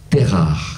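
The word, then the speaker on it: Térah: mais dans la Torah, il porte un nom étrange, il s'appelle Terar. C'est pas facile à prononcer, Terar. Alors, dans toutes les Bibles, on lui a légèrement francisé le patronyme, et pour des raisons d'intégration, Terar est devenu Taré.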